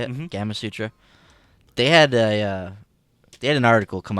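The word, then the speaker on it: Gamasutra: But man, I was Gama Sutra. Is that how you say it? Mm-hmm. Gama Sutra.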